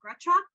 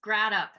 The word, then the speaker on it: Gratop: next um panelist um is uh Gail uh gretcha actually Gail I'm going to have you correct me am I pronouncing your last name correctly it's grad up and it happens all the time I don't